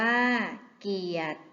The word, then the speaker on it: เกียรติ: พรหม อ่าน ว่า พรหม เกียรติ อ่าน ว่า เกียต สามารถ อ่าน ว่า